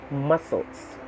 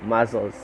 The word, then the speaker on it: muscles: next we have 27 muscles yeah muscles m-u-s-c-l-e-s not muscles muscles again with the confusion brought about by the word that is a merged word merge sound rather of snc and then we have